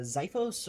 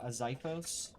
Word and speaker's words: Xiphos: A Xiphos, which is spelled with an X.